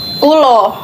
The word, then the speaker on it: kula: Nah, ini kenapa ini A terus dibacanya O, ya kan? Emang kalau dari Jawa itu, Jawa Timur lah, Jawa Tengah lah, itu tuh biasanya tuh dibacanya O. Gitu.